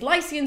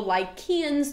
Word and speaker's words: Lycians: And Sarpedon is described as advancing with his Lycians or Lycians, depending on if you pronounce that C as an English C or the K is like a hard Greek one.